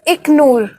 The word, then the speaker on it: Iknoor: Sir, pronunciation of my name is Iknoor.